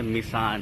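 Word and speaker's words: Mỹ Sơn: यहाँ पर इसका उच्चारण जो है मिसान है, मिसान माइसन, जहाँ की पूरे हिंदू मंदिर हैं।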